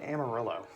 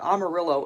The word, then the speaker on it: Amarillo: in Texas, with the exception of Wonderland and Amarillo. And for the love of God, that is how you pronounce it correctly, so I don't want to hear anyone call it Amarillo again.